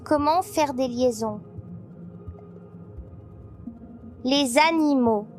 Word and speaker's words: animaux: Les animaux, je ne prononce pas le X, mon ami.